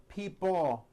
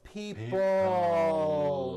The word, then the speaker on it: people: Notice in this last word, people, it's not pronounced people with your tongue not moving. It's people with your tongue slowly moving up and your jaw remaining down. Stretch out that L sound.